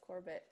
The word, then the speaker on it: Corbett: Yeah, Wes Corbett. Yeah, Corbett.